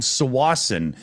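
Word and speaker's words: Tsawwassen: Back when I was like 8-9 years old, we had frisbee golf in a town called Sawasan. If you look it up, it's Tawasan, but the T is silent because people do that kind of stupid shit in the world.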